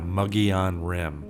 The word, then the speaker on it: Mogollon Rim: So anyway, that whole area in general of that 260 goes through is known as the Mogollon Rim. I think that's how the locals pronounce that.